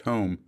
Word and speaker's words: HOOM: young clerically clad home h-o-o-m pronounced home members approached bob said